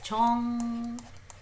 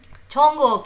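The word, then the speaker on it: 정국: When he writes it like this, Jongkook. So this is what he's writing, Jongkook, Kook, Jongkook, Kook. So it's neither K nor K nor G, it's somewhere in between.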